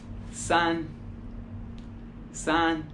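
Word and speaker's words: 三: como el yang liam el 3 se pronuncia como sanz sanz el 4 se pronuncia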